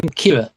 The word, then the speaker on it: Kira: Do you know why they call him Kira? It's just it's just killer only pronounced with a Japanese accent.